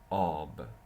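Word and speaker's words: آب: At the beginning, it takes this form, a, like ab, ab, ab. Ab is water, ab.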